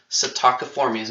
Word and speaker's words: Psittaciformes: Psittaciformes. Now I say it with the P being silent. It's just how I was taught. I'm sure that there are other ways to say it as well. Psittaciformes have curved beaks.